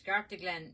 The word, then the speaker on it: Scartaglen: Uh Hopefully, we'll be getting our uh the Scartaglen. Yes, Scartaglen. It's uh How do you spell that now, so you get it right?